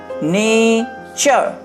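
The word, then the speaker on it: nature: আর এন এ টি ইউ আর ই, নেচার। এটাকে আমাদের মনে রাখতে হবে, চার, এইভাবে মনে রাখতে হবে, চার, চার, চার। তাহলে নেচার, ফিউচার, পিকচার। এটা কিন্তু টুরে উচ্চারণ হবে না, টুরে উচ্চারণ হবে না, নেচার, ফিউচার, পিকচার।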